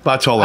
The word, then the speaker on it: Bartolomeo: Bartolomeo, but Bartolomeo. I just learned how to pronounce it last week too, yeah, so don't feel bad.